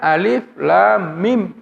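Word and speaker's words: الم: Tapi kenapa di surah Al-Baqarah dan di juga surah Ali Imran kita membacanya alif lam mim, tidak membacanya alam?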